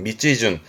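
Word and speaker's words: 道順: 그래서 발음이 밑지준합니다. 밑지 밑지준 밑지준 발음 챙겨 두세요. 밑지준 길 가는 순서 그러니까 목적지로 가는 그 길 가는 차례 순서를 말할 때 그럴 때이 밑지준을 씁니다. 발음도 중요합니다. 밑지준 챙겨 두시고요.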